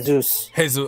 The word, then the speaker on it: Jesus: It's Gabriel Jesus. Okay. Gabriel Jesus. Okay, they pronounce it like Spanish too. Jesus. No, that is Portuguese, yeah, Bill.